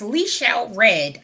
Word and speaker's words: LeChelle Redd: Well, my guest today is Lechelle Reed. How you doing? I am great. I am great today. Thanks so much for asking. It is Lechelle Reed.